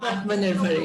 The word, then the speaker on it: Atmanirbhar: And I can't pronounce the name of this, what this thing is called. Atmanirbhar, yes.